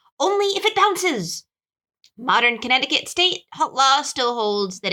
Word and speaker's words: Connecticut: afoot okay okay Connecticut Connecticut this is a food one your notice is spelled Connecticut Connecticut connect occur the C is silent apparently it's the word connect